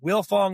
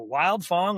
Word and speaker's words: Wildfong: It's Willong Enterprises or Wild Fong. I don't know why the D is silent but I guess Russ can explain that to us.